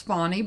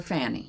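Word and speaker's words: Fani: way or another and the proper pronunciation of her name is fonnie but I refuse to say that I prefer to call her Fanny I I suspect that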